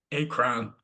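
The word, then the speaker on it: Akron: back in as na just as Acron we call it akan over here but call it what you want doesn't matter it's spelled the same akr o n the three that stayed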